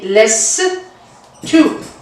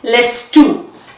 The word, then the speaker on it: لست: And if you want to see how you are going to pronounce it, less to. Less and to. Less to, or you can do it with the U or with the O.